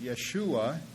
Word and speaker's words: Yeshua: It's a mispronunciation of his name. Most Israelis don't even know the difference. They just speak of him as Yeshu. And the rabbis have, over the last few centuries, pulled off a coup in that regard, because his name is actually Yeshua.